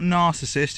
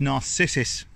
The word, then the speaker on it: narcissus: It's not narcissist, is it? It's narcissus.